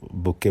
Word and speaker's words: bouquet: इसकी प्रोनाउंसिएट इसको बुके बोलते हैं।